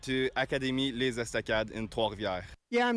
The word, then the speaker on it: Trois-Rivières: So, Saint-Jean-sur-Richelieu, Quebec, Canada, and I went to Académie Les Estacades in Trois-Rivières.